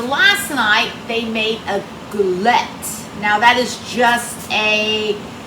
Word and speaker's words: galette: video out by saying this is called a glette I looked it up I looked how to pronounce it so this is the proper way for an Appalachian American to say it glette and enjoy the video good evening friends how